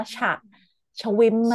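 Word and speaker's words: schwimmen: กับ คำ ว่า "swimen" แต่ การ ออก เสียง จะ ไม่ เหมือน ใน ภาษา อังกฤษ ออก เสียง ว่า " ชมี ม " อืม.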